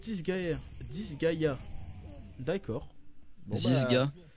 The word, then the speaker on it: Disgaea: prononce Disgaea.